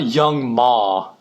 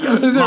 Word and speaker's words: Young M.A: What about Young Ma? How about put her... I'm pretty sure it's Young M.A. I think that's how it's pronounced, not Young Is Ma.